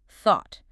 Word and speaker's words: thought: The past tense of think, thought, starts with the voiceless interdental fricative, the sound, T-A-U-G-H-T.